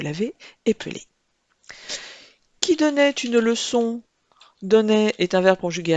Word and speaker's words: leçon: Une leçon, il ne faut pas oublier le C cédille de leçon afin que le C se prononce bien ce.